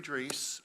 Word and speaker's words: Dries: it's a German pronunciation, and most people get it wrong. Anyway, my name is Dries.